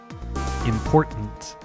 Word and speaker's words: important: back to my recordings, there's some words where I feel like, oh, there's a T in it. I have to pronounce the T because that's professional. But actually, sometimes the T's aren't stressed. They're just like a glottal stop.